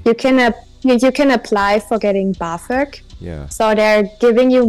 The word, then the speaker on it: BAföG: We just pronounce it BAföG.